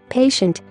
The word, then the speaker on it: patient: The letter combination TI sounds shh when followed by letters like A, E, and O. Please check these examples. Patient, patient.